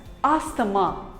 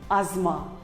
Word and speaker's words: asthma: us call it as asthamma but wrong it is not asthama it is called as asma the t and h is silent asma here is another